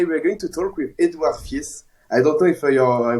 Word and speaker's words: Edouard Fiess: And today we're going to talk with Edouard Fiess. I don't know if I pronounce in a good way your name.